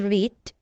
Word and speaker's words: read: Read, red read, red read. Tulisannya sama tapi pengucapannya beda.